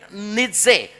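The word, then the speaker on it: Nietzsche: Ini satu-satunya orang kaya yang bisa digoreng namanya Fright Rich Nitse bacanya Fred Nitze.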